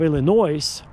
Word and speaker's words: Illinois: And if you're some like those reporters, if you're going to say, I'm I'm from the state of Illinois with an S, you will never get a job, folks, because the S